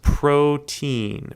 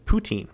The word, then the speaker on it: poutine: getting salty over there it's pronounced protein poutine poutine thank you randy appreciate